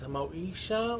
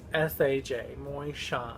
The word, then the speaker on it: Moishe: Everyone's, it's Moishe, it's Moisha. Like, I just don't know. I'm gonna have to start spelling my name phonetically, I think. and like Moyshaj. Moisha. I don't know. That's how it's pronounced, kitties.